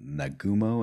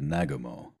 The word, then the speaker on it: Nagumo: gets me I've heard nagumo and then I've heard nagumo both are correct it depends if um